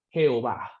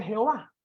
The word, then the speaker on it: Jehová: El nombre era YHWH y para poder la gente pronunciarlo le colocan las vocales de Adonai y ya la gente le dice Jehová. Jehová.